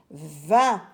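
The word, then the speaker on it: vingt: n V i n G qui est une lettre muette et le T qui est une lettre muette également 20 20 en lettre s'écrit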